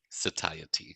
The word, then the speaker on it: satiety: Satiety.